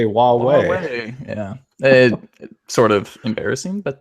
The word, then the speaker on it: Huawei: time time no one even knew how to pronounce their name now everyone knows wuwei right so I feel like their name is